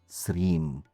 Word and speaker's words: Sreem: It's part of the Bija Mantra, Sreem. So, when you chant Om Sri Matre Namaha, you are actually chanting Om, the first syllable, Sreem, the second syllable. Together, that makes it a two-syllable mantra.